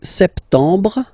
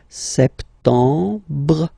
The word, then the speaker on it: septembre: So septembre, septembre. Remember this EM en septembre. You don't insist on the final E.